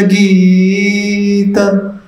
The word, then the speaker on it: गीत: महाप्रभो कीर्तन नृत्य गीत, गीत गी लंबा खींचना।